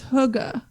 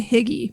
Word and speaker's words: hygge: by the way it's it's oh it's hygge yeah is that what i said i was going to say higgy basically it's definitely not higgy it's spelled h-y-g-g-e but you're right i think the pronunciation is right yeah danish or a